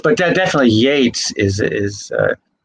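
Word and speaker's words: Yeats: it's but that definitely yates is is uh even though it's ea it's it's pronounced with an a okay yates is pronounced with the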